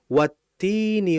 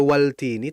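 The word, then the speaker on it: وَالتِّينِ: Apakah kita baca wal tini? Tidak. Ya. Tin itu kan adalah isim, nama, kata benda, buah gitu kan. Sehingga ketika ada lam mati ketemu setelahnya isim dan ternyata itu huruf ta isimnya itu diawali huruf ta, maka kita enggak boleh menjelaskan lamnya karena dia sifatnya hukumnya adalah idgham langsung dimasukkan huruf tan-nya wattini wazzaitun.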